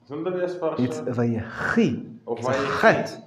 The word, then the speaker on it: Vayechi: It's Vayehi. It's a chet. They didn't put in the ch. But it's Vayehi. It's a chet.